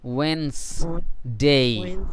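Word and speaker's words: Wednesday: হুম, যেহেতু বানানে তো WED, wait, NESনেস, wait নেস ডে এরকম আসে, তাই না? কিন্তু আমরা এই সিলেবলগুলো এইভাবে না ধরে ড সাউন্ডকে সাইলেন্ট করব, Weil's, Weil's day, ইয়েস ওয়েন্সডে, ওয়েন্সডে, হ্যাঁ ঠিক আছে ওয়েন্সডে, থ্যাংক ইউ, ওয়েন্সডে।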